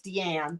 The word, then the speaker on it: Deann: I get called Dean. It's Deann, but people always say Dean.